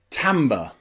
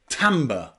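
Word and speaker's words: timbre: letter pronounced is a letter I can be pronounced a now there's only one word I know where the letter i is pronounced a and that is in the word tamber tber Tamba this is a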